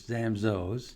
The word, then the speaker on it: Zamzows: The proper way is Zamzows. Okay. That's why we say we did the rhyming ad. Nobody knows like Zamzows.